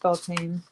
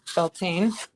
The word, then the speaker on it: Bealtaine: As we were talking about, nobody pronounces it correctly. Beltane.